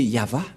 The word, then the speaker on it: Yahvah: Mais en lecture normale, on le lit Yahva. Et vous allez dire, mais je vois un W ici.